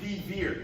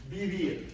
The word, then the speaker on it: vivir: that V is pronounced, a lot of times it sounds very be-ish, like your English be, right? So you don't hear me saying vivir, like really hard V. You'll hear me say vivir, right?